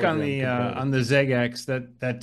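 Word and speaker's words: XeggeX: there it says PS it's pronounced like ZX but it's spelled x e g g x it's a pal we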